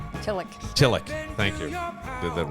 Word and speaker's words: Tillich: Tillich. Tillich. Thank you. Did that wrong last time. I have a tendency to mispronounce like everybody's name.